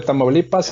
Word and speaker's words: Tamaulipas: ¿Cómo lo pronuncié bien? Sí, de Tamaulipas, en el noreste de México.